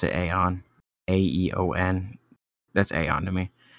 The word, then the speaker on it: Aeon: It's just like a robot voice that leads right into the first main song, which is Aeon or Eon. I pronounce it Aeon, A-E-O-N.